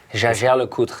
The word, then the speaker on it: Jaeger-LeCoultre: good look good mm-hm but jaeger-lecoultre no unacceptable you know if you can not pronounce it which I know it's very difficult try your best to just call it jl see that's perfectly acceptable but if you really want to pronounce it right shallow cool there you go that's my boy